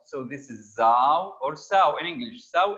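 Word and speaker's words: Sau: u in german uh when the s comes at the beginning most of the time it's pronounced za and au in german is ow so this is zao or sao in english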